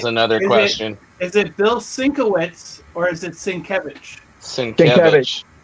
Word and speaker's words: Sienkiewicz: Um, Sienkiewicz, yeah.